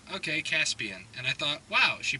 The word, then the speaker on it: Jaspian: And I heard her say it back, and she was like, okay, Jaspian. And I thought, wow, she pronounced it right, but this has happened before.